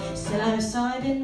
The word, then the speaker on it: psilocybin: It's a mixture of magic and chemistry, psilocybin with a silent P, psilocybin mexicana, or what is known as magic mushrooms.